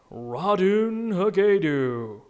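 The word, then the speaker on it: Ratonhnhaké:ton: name seriously how the am I supposed to pronounce that radun Hau what really that's it that's actually how it's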